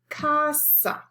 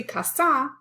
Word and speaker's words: casa: syllable for example casa casa has two syllables two vowels we say casa we don't say kasa we enchilada has four